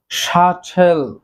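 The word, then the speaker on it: subtle: দেন রয়েছে শাঠেল, শাঠেল অর্থ সূক্ষ্ম, এক্ষেত্রেও বি এর উচ্চারণ হবে না, বির উচ্চারণটি সাইলেন্ট থাকবে।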